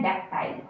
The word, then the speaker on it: dactyl: इस तरह से हम इसे पन्नन नहीं करेंगे जिस तरह की स्पेलिंग लिखी है, पर इसका प्रोनंसिएशन है डेक्टाइल, डेक्टाइल, डेक्टाइल।